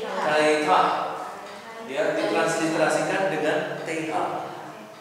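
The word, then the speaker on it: Θήτα: itu theta theta ya Teta itu pengucapannya theitahah teitah ya ditransliterasikan dengan th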